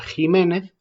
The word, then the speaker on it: Ximénez: se extiende pero entonces por qué pronunciamos la equis como jota y no como equis en estas palabras ahí